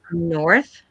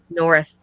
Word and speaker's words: north: okay in the word North and so you pronounce it with the th north north yes thank you